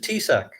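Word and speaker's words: Taoiseach: Oh, if you could imagine this, it's TAOSCHIECH, I think. Now, if your viewers could put that in their heads and try to imagine how they would try to pronounce something as stupid as that, but in Ireland, it's just Tisac.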